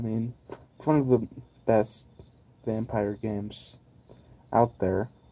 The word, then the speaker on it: Vampyr: and it's called the vampire or vampire I like just calling it that no I'm telling you you know Vampir just sounds weird but that's the correct way to say it and these people worked